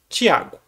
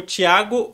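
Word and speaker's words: Thiago: é o Carneirinho, o Tiago Fragoso. Ah! E só que aí já é um outro porém. Pronuncia-se Tiago, a mesma pronúncia, mas o Titi é T-I-A-G-O. E o outro é T-H. Tem um T-H.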